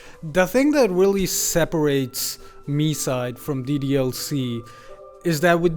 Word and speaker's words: MiSide: start by saying that I really really wanted it to be pronounced my side but uh if the Japanese vo is to be believed it's me side I just to it